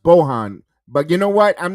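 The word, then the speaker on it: Bojan: a big fan Bohan it's pronounced Bohan but you know what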